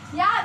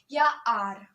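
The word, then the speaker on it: your: ये चीज क्लियर कर लीजिए, और या आर। ओके, अब इसको गलत प्रोनाउंसिएट मत कीजिएगा। और है तुम्हारा, तुम्हारी, तुम्हारे, इसको लोग यूआर बोलते हैं। That's not यूआर, that's योर। अब क्या बोलेंगे आप? योर।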